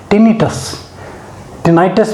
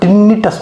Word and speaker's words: tinnitus: कहेंगे, लक्षण कहेंगे इसको, टिनाइटस भी बहुत सारे बोलते हैं बहुत सारे लोग, और बहुत सारे लोग टिनिटस भी बोलते हैं, है ना, जो भी प्रोनाउंस आप उसको कर सकते हैं जिस तरीके से भी।